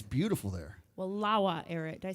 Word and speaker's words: Wallowa: Wallowa, Eric. Did I say it right? Wallowa. Wallowa.